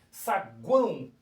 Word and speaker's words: saguão: Mas observe que na hora que eu pronuncio, que eu falo, uso aqui a fonética, vamos dizer assim, ó, saguão, o sai com som de U, gente, né?